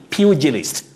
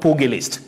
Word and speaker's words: pugilist: fugitive fugitive and you also say pugilist pugilist not pogalist when you're talking about a boxer purgalist not pogalist fugitive not forgetting stephen